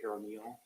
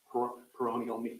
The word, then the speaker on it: peroneal: uh and there is an air called the perineal um perennial peroneal I'm dismiss pronouncing I'm sorry it's called um p-e-r-o-n-e-a-l nerve